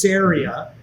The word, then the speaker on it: Ceria: you right there because i've struggled with the pronunciation of the name and it is syria um but i'd love